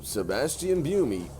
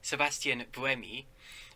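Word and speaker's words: Sébastien Buemi: wheels fell off the driver of toro rosso sebastian view me just slightly these pronunciations i i don't want to be nitpicky about pronunciations too much because i guess it's a little snobbish of me but sebastian bremi and also i wouldn't stress the row in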